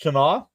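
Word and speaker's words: Tena: Tana, I believe it's pronounced Tana.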